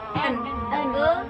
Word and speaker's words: an: Bacanya bukan an tapi en.